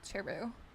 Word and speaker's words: Cheru: you talking about cheru that's how you say it chero it's like Cherry cheru um here I'll give you